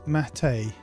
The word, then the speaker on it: mate: Pronounce mate as uh in Yerba.